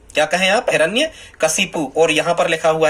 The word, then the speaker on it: हिरण्यकशिपु: फिर ये हिरण्यकश्यप वाला स्टूडेंट्स जो है, ये हिरण्यकशिपु सही है, हिरण्यकशिपु सही है। क्या है सही, फिर से सुन लें आप, ऐसा ही इसका उच्चारण करें, हिरण्यकशिपु।